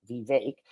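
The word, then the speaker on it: Vivek: answering it okay but Vic VI is how you pronounce it like cake vake denounced quote unquote the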